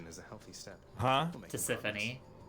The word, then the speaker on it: Tisiphone: Tisiphone. I think is the pronunciation on the other Fury's name. I'm gonna Google it. Trash. I'll show you progress. Meg, Electo, or yeah, Tisiphone.